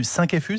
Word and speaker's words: 5-FU: Bon allez, un scandale, un vrai, cette fois-ci, et c'est dans l'Obs de cette semaine, celui du 5FU, c'est comme ça qu'on prononce ? C'est comme ça qu'on dit.